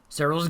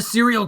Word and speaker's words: Serral: Serral's gonna get his gas and his pool. Our Zerg player is absolutely a killer, but don't call him a serial killer, because it's pronounced Serral!